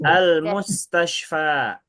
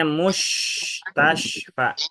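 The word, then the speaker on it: مستشفى: Gurunya, tutornya mengajarkan pengucapan kalimat ini atau kata ini rumah sakit. Tapi bacanya musy tasfa. Mus tasyfa. Betul atau salah? Salah. Nah, salah ya. bukan mustasyha. Kalau orang awam yang belum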